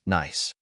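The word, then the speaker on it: NAIS: to become known as the nas Club pronounced nice Japan's social safety net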